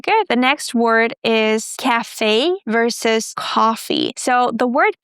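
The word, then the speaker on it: café: So it's cafe and we stress the second syllable, cafe.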